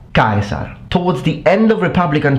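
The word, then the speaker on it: Caesar: during republican times but it was still a dip thong meaning that you had two distinct vowel sounds with the accent falling or the stress falling on the first vowel. So the pronunciation would become from iie to i. Kaisar.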